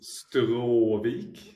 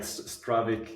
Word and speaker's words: Stråvik: So here in Sweden, it's Stråvik. Oh shit. But like Stråvik is probably the international way to say it for sure.